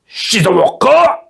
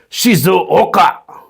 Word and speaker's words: Shizuoka: Let me just pronounce that properly. Shizuoka. Okay, that's how samurais would say it. Shizuoka.